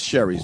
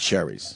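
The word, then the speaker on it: Shari's: Sherry's Berries all morning, and it is Sherry's Berries. I mean, it is Sherry's Berries, not Sherry's. Sherry doesn't rhyme with berry.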